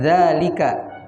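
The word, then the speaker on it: ذلك: yang jauh dari kita Hai cara membacanya walaupun dalam tulisan harga tidak ada alis setelah hak tapi itu di tetap di panjangkan jadi Haza begitupun dengan Zalika Hazard dengan Zalika dibaca panjang harga artinya ini Zalika artinya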